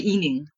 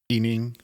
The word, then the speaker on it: He: as my surname so I just keep that pronunciation yeah so you can call me eing yeah ening great that makes it so much easier I'm